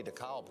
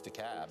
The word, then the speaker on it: DeKalb: Yeah, no, trust me, I'm no longer going to say DeKalb County, right? I know it's DeKalb now, and we're all going